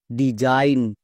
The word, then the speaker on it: design: সো ভুল করেও আমরা সিগন উচ্চারণ করব না। আরো কয়েকটি ওয়ার্ড দেখো, যেমন DESIGN Zain, ডিজাইন, RESIGN Zain, রিজাইন, এই ওয়ার্ড প্যাটার্নটা অনেকে জানছই না।